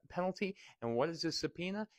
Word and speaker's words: subpoena: my blame same thing subpoena in fact in the Latin it would be pronounced sub poena poena means penalty sub is a type